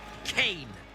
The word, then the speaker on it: Kane: Kane rhymes with pain.